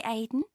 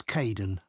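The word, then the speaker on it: Kaeden: Hi Aiden. Uh it's Kaden.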